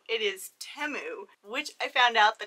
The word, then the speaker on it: Temu: I do have to say I have been pronouncing it Teemu ever since I found out about this shopping website but I guess it's not timu it is temu which I found out the correct way to